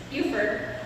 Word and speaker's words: Beaufort: Galt Brown corrected my pronunciation, it's Beaufort, South Carolina.